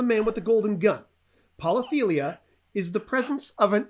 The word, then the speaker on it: polythelia: here's question number three okay okay it's about polytheia polythelia i will spell that for you yes p o l y